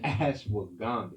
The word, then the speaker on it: ashwagandha: Ashwagandha.